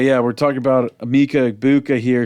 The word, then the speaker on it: Egbuka: It was like a Boca or something.